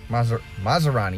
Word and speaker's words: Masrani: Masrani? Masrani, yes, I said it right.